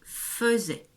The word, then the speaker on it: faisait: ce mot, le A et le I ici faisaient le son E. C'est tout à fait exceptionnel. Donc c'est le verbe faire. Et quand on le écrit comme ceci, ça devient il faisait. Ça s'écrit il faisait, mais ça se lit il faisait.